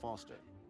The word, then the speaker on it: Foster: with pickle does I'm Foster I'll remember that easy because your name rhymes with fossil and you're old thanks